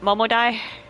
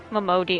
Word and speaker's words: Momodi: So now we are talking to, was it Momodai? Momodi. It looks like Momodai to me. Because DI could also be pronounced as die.